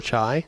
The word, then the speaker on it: chai: But you're also seeing a rise in tea beers and Kai beers, or chai, depending on how you say it.